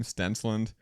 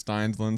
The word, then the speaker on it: Stenland: my old last name stenland everyone always just throws a weird weird letter in there stenland steinland something like that so just wanted